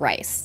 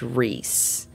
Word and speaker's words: Rhys: and when it gets shortened to r h y s I can totally see that being pronounced as Reese and not rice well we know it's pronounced Reese we know it's yes